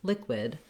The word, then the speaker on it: liquid: Then when we look at liquid, we also have first syllable stress in liquid. We have our I vowel again here, same that we heard in solid at the first part and the second part of liquid.